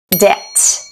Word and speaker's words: debt: who who who who doubt doubt debt debt letter M and letter N aumn autum